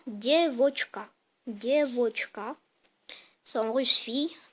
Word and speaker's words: девочка: En russe, le mot fille, ça se dit девочка. En gros, vous dites die, vous dites voch et vous dites ka. Vous assemblez ces trois syllabes et vous dites en même temps девочка.